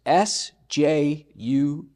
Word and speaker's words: Sjuts: It's S-J-U-T-S. Pronounce Sjuts.